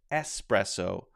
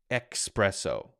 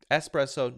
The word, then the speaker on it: espresso: in there but anyway it's pronounced espresso not expresso okay espresso not expresso it's not